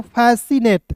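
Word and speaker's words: fascinate: एन ए टी ई तो क्या पढ़ेंगे दोस्तों फैसिनेट क्या पढ़ेंगे फैसिनेट देखिए एफ ए एस आई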